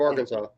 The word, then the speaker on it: Arkansas: country the country of Arkansas it's pronounced Arkansas uh we gotta pay